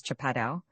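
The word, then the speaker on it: chapadão: It is the kind of country known to the Brazilians as Chapadau, pronounced almost as if it were a French word and spelled chapedon.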